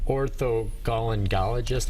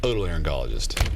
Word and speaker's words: otolaryngologist: You're not an orthogalangologist. How do you pronounce that? Otolaryngologist.